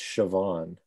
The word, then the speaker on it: Siobhan: to know that that's Siobhan is to have known a Siobhan. It is, yeah. You're not going to pick that up from just reading it, unfortunately.